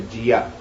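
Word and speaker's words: ਜੀਅ: The jiya, it's not G. We pronounce it wrong.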